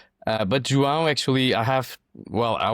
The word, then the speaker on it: João: If you want to learn how to pronounce Jang there are two ways. One is if you're a fan of Star Wars and if you remember the lightsaber the sound that is the sound that you should say.